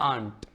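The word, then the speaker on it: aunt: laugh ठीक है ना आंट आंट भी सिंपल सा है ये आ हो गया और ये न हो गया और ये ट हो गया आंट हो गया आंट ठीक है यू गायब हो गया ऐसे ए आर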